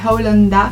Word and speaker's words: Owlanda: Si vous vous demandez pourquoi Holanda, en fait ça s'écrit O-W-L-A-N-D-A. C'est pour Hole et Panda et mixé ensemble ça fait Holanda.